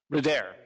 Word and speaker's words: Bruder: Bruder. Did I pronounce that correctly? Bruder.